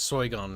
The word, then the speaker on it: Sargon: the discord link because say his name correctly it's soy gone now i wanted to